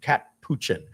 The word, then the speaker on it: Capuchin: It's called, it's spelled ridiculous. It's supposed to sound like cappuccino, but it's Capuchin.